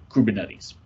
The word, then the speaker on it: Kubernetes: In its written form, you might also hear it referred to as its numeronym K8S, but most people just pronounce it Kubernetes.